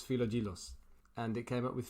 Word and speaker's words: Philogelos: Philogelos. Like philo pastry.